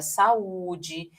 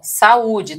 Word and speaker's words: saúde: Então, olha só, o encontro de duas vogais em sílabas separadas, tá, vai ser chamado aqui justamente de ato. É o caso da palavra saúde que vai fazer assim, ó. Vamos fazer a separaçãozinha aqui, ó. Sá, né? Ó, sá, olha o a ficando numa sílaba.